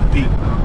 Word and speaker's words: Pit: It was originally Pit. But they didn't want a dog. West Virginia. Pit. Okay. So we dropped one of the T's and I guess put an accent on the I.